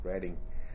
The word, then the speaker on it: Reading: We were sponsored by a Catholic uh uh… church, a parish in Reading, R-E-A-D-I-N-G. They spell ‘Reading’ but they pronounce it ‘redding.’ So we were sponsored